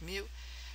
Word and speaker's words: mu: the entire population use the greek letter mu pronounced mu that's a greek mu at times you will